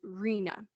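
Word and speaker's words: RHNA: needs allocation with the acronym r h in a and commonly pronounced as rena this is referring to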